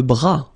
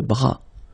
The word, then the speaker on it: bras: Le bras, le bras. Same thing here, final S not pronounced. Le bras.